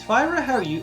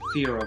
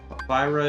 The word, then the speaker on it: Fira: Is Fyra how you say it? Yeah. Okay. Because I've heard Why? people pronounce. There's another way to say it. I've heard people pronounce it Fira before. What? No? They're wrong. I'm not going to tell them they're wrong, but Fyra is how I've always said it.